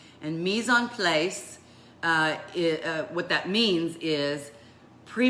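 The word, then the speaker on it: mise en place: you want to learn something new I'll probably pronounce it incorrectly but it's a French phrase called me zone place and meson place what that means is pre measuring and setting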